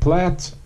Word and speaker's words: plait: is a plat count the word plant is Australian much like the techniques and materials kangaroo used in whip making and plat rhymes with hat and it refers to